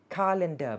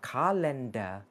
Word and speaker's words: calendar: spell it is d-a-r calendar but not pronounced like da not calendar but calendar yeah well sometimes a